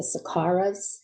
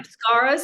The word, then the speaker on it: Samskaras: And the Sakaras, am I pronouncing that right? Sakaras. I think that's from Buddhism. We won't get into- Samskaras is the word I'm Yes, familiar with. yes, Okay, yes. yes. Yeah, I was pronouncing it wrong.